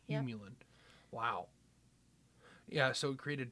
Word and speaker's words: Humulin: Humulin, I'm pronouncing that correctly? Yep. Humulin.